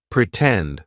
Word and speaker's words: pretend: word starts with t lots of times if the stressed syllable of a word starts with t we are also going to use the true T sound pretend for example in the